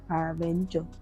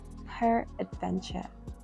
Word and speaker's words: peradventure: By the way, I just learned that that word is not pronounced paraventure. It's actually pronounced. It's actually pronounced peradventure.